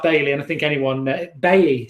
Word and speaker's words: Bailly: The way you say his name is Bailly, not what everyone is saying, says Jack West.